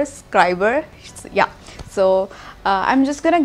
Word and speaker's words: Scriberr: boxing video so basically it's not scribble I pronounced it wrong so I'm really very sorry for that it's tribal as in subscriber scriber yeah so I'm just